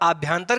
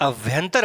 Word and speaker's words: अभ्यंतर: आभ्यंतर कर देते हैं, और आभ्यंतर कर देने से चीजें गलत हो जाती हैं। ध्यान रहे, आपको ध्यान में रखना है कि लिखते समय इसे आप आभ्यंतर ना तो लिखेंगे और ना ही इसका उच्चारण ही करेंगे। करना क्या है? ये अभ्यंतर प्रयत्न है, ठीक है।